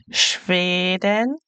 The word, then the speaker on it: Schweden: Schweden. Remember the e sounds like a a. Schweden.